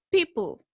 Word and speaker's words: people: Recuerden que les dije en alguna clase alguna vez que las E al final de palabra en inglés no se pronuncian. Por eso la pronunciación queda hasta la L, ¿cierto?